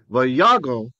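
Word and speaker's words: ויגר: Vayago Avraham. Again, this is an O because closed unaccented syllable.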